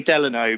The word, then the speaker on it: Delano: think an ex-president and his middle name was Delano and that is how you pronounce it Benjy no you answered that's what I'm going on it's definitely Delano but I do know that rooms were modeled